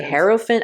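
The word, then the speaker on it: Hierophant: they say this and there are so many people that do pronounce like they say it like some people say heropant. I say heropant because it sounds like elephant.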